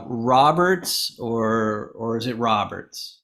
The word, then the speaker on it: Roberts: This is usually where I say, "Hey, is it pronounced Roberts or is it Roberts?"